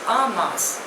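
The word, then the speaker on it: en masse: religious affinity the next word is अ मास spelling इ ई एम एम ए एस एस ई pronunciation is अ मास इट इज अ French word मींस all together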